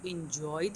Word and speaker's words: enjoy: اوكي شوفوا أيضا هاي الإشارة بنات هاي العلامة هاي المارك اللي قلناها تيجي before the stress syllable. You liked it. You liked it. You liked it. You enjoyed it.